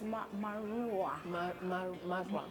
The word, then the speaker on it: Marua: It's Marua. Marua. I always want to say Marua. That's not how you say it.